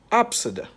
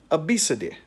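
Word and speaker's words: Abcde: a child's name and the child's name is pronounced absida some other people pronounce it obesity let me give you another this is a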